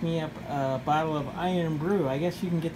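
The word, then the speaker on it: Irn-Bru: So if you've ever had Iron Brew, it's pretty good, and it's spelled I-R-N-B-R-U.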